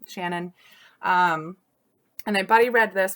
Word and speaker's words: Ciannon: did look up, and I think her name is pronounced Shannon.